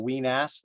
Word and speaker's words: Wenas: a valley, which is correctly called the Weenas Valley. But where I grew up, that sounded rude. So I decided to start calling it the Weenas Creek site. So you couldn't tell I was mispronouncing the Weenas part because I said it fast.